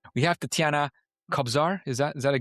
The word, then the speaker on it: Tetiana Kobzar: We have Tetiana Kobzar. Is that Is that a good pronunciation?